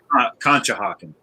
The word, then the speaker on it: Conshohocken: I found a place in Conshohocken, Pennsylvania. Am I pronouncing that correctly? Conshohocken.